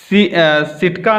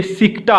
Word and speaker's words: सिकटा: ठीक है, सिटका नहीं है, ये सिकटा है।